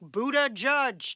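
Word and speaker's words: Buttigieg: Cumberland mayor Pete's husband offered some tips like Buddha judge to help pronounce this Maltese name that translates to Lord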